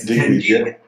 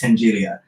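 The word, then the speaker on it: Tenaglia: one, then you had Tengilia. I hope I said that. And I always say, I used to always pronounce that wrong, but I think it's Tengilia.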